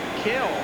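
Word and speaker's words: Kiln: family came up from kill mississippi actually spelled k-i-l-n but pronounced kill and there's his father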